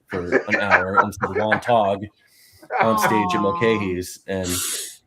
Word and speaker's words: Wantagh: Where was it in Wantagh?